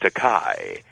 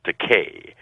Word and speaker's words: Takei: of my name because there is a legitimate Japanese word that's pronounced Takei and it translates into English as expensive but my name is pronounced Takei and no producer well